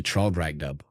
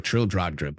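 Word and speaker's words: Traldragdubb: It contained a warrant for conducting me and my retinue to Traldragdub, or Trildradrub, for it is pronounced both ways as near as I can remember, by a party of 10 horse.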